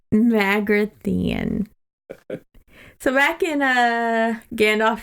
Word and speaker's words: Magrathea: be our first pin it's pronounced mag see here Magrathea so back in a